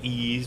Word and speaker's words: Ys: for the turbo graphics which is pronounced it right ease book 1 and 2